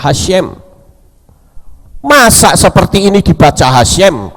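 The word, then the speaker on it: Hashem: Yod he wau he sedangkan hasyem itu he syin mem membacanya hasyem masa seperti ini dibaca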